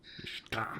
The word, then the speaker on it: Riskadh: Riskadh.